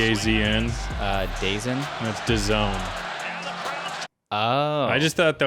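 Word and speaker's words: DAZN: freaking time clip do you know how that's pronounced d a ZN uh da that's Doone oh I just thought that was like such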